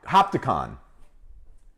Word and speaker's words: Hopatcong: Hopticon.